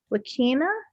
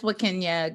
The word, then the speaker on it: Wakenya: We'll go ahead and let's pass it to Wakina. Is that how you say it? It's Wakenya.